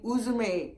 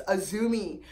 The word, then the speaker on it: Uzume: Instead of saying Uzume, it's Azumi.